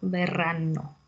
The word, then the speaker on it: berranno: Berranno, bene, con la B. Perdone, sì, è difficile da pronunciare. Molta R, con la R, molto R, e con la B, con la bocca chiusa, no? La B, B, berro.